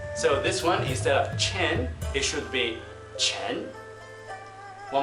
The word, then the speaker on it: Chen: the next one is Chen again it's quite similar to the English but the minor difference lies in the pronunciation of n in English it is